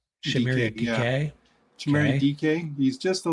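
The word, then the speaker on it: Dike: uh from Miami oh I said Dyke it's DK sham DK sh DK he's just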